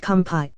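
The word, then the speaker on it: kanpai: taking some shots and they kept saying campy don't know how to spell it but it's pronounced kampai every time we took a shot it means cheers in their native language well my dumbass got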